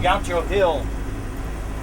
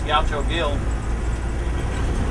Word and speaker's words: Gaucho Gil: Back there, it's for this guy named Gaucho Hill, but it's spelled with a G. I guess Gaucho Hill.